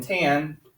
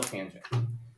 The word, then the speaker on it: tangent: And tan is still tangent.